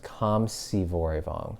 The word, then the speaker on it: Khamsyvoravong: My last name is pronounced Khamsyvoravong.